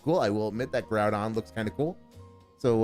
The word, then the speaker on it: Groudon: So yeah, Groudon, Dave, Groudon, because it's a ground type and it's invoking the ground.